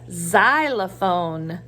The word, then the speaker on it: xylophone: is kind of tricky this is a xylophone that sounds like a Z but a xylophone is spelled with an ex ex and the X makes that sound so this is the